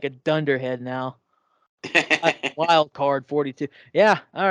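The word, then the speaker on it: Wyldkard42: Is it wild card? Yeah. Why would you spell it with a Y?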